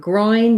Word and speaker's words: groin: if position and so for building the word groin you would just want to do um try roy like thinking about it like roy and then add your n roin and add agity groin and then for bourgeoisie